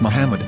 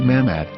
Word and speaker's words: Muhammad: yehuda's Hebrew English dictionary it is is correctly pronounced as Muhammad not mammad so how we're going